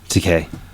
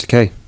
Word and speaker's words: Takei: No, because in Japanese, Ta is one character, Ke is another character, and E is another character.